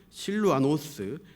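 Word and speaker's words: Σιλουανός: 이 본문 1절에 나오는 이름을 원어 발음, 헬라 발음으로 읽으면 파울로스, 실루아노스, 티모데오스라고 있습니다.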